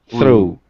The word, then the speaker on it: through: baseball through a baseball through through sounds like it has a w on the end through uh okay anyway